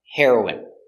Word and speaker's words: heroin: Next we have heroin. The pronunciation is the same. The drug heroin and the person heroine.